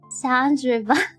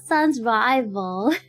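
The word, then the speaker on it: Sans Rival: It's Sounds Revol. It's Sounds Revol, not Sons Rival.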